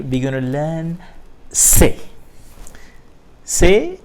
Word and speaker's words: c'est: C'est apostrophe est. It's pronounced as c'est.